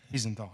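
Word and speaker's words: Wiesenthal: Is there a comment and maybe a correct pronunciation? Dr. Lavin, I have a question. Orthinthal. Visenthal.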